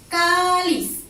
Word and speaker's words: cáliz: tenemos la palabra cáliz, ¿sí? Aquí se carga la voz. ¿En dónde se carga la voz? A ver, cáliz. Se carga la voz en la penúltima sílaba. Termina en Z, por lo tanto lleva tilde aquí y también es una palabra llana.